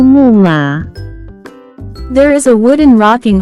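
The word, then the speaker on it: 木马: can be pronounced as 木马，木马，木马。 Let's break down it to understand it even more. It has 2 characters, pronounced with 4th and 3rd tone.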